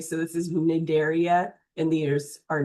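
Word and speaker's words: Cnidaria: You don't pronounce the C by the way. So this is nidaria and these are nidtoytes.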